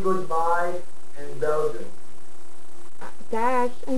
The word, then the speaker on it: dag: Dag.